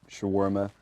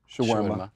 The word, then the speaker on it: shawarma: I've always wanted to know this because I've heard shawarma before. First of all, that's how it's pronounced. Shawarma.